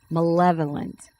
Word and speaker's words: malevolent: I have to apolog The definition for malignant or definition was malevolent and I pronunciation is wrong.